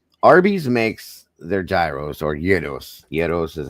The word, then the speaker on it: gyros: I won't, it's not the first thing I would get, but Arby's makes their gyros or yos. Yet is how you pronounce it.